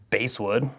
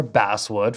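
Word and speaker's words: basswood: stuff everywhere gold stuff the body is a base wood or bass wood for those of you who like to pronounce it incorrectly feels like can you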